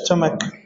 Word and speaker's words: stomach: look CH is the writing sometimes but the pronunciation is what is the name of this area is stomach stomach you are producing two words in one